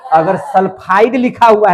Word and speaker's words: सल्फाइड: ट का उच्चारण हो जाएगा। समझे कि नहीं? आप सिर्फ एस लिए है तो सल्फाइड।